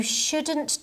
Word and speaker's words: should: so much pizza you shouldn't talk like that we shouldn't leave the children alone by the way notice how I pronounce prounce should and shouldn't the L is silent should shouldn't and you